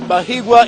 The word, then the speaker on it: Bahigwa: He has told me here that Bahigwa is a romantic name, so it should be pronounced with a lot of ease and not rushed.